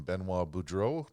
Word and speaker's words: Benoit Boudreau: Today, I'd like to welcome Benois Budro to the show. Hopefully, I pronounced your name correctly, Benois.